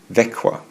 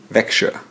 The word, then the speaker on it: Växjö: My next stop was the Swedish city of Växjö, which is pronounced like this. Växjö. Or as some people in the north of Sweden would say, Växjö.